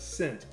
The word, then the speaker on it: scent: The letter C is silent in the word scent because the C is meant to sound as a S sound, but the S sounds like a S.